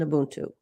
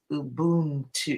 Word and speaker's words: Ubuntu: That's Ubuntu. He loves to say Ubuntu. Ubuntu. I say Ubuntu, and I think it's a little different depending on where you are in sub-Saharan Africa, how it's said.